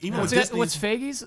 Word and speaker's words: Feige: But they still recovered, and after that, like even with Disney, what's Feige's? How you pronounce it?